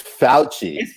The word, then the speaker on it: Fauci: It's Fauci. Is it really Fauci? It's Fauci. It's Italian.